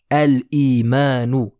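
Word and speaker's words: الإيمان: S'ensuit le mot al-imanu. Pareil, je prononce ici le lam. Al-imanu.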